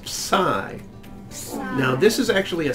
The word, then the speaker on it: psi: It's a P and an S together.